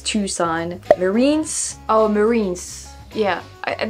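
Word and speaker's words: Tucson: going to try it tuon for tuxen you probably said before yeah it's tuon Marines oh Marines yeah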